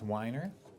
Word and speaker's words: Weiner: James Weiner. I'm director of the Weiner Wellness Center. Weiner is spelled with 5 letters, W-I-N-E-R, like wine that people drink, with an R at the end.